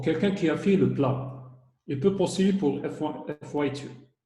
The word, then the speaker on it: PLAB: Il y a le PLAB, il se prononce PLAB.